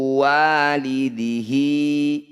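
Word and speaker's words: والده: Wala mauludun huwa jazin walidihi. Semua bacaan hi atau hu yang dibaca panjang disebut bacaan matsilah qasiroh. Cara bacanya hi panjangkan 2 harokat atau 1 ayunan.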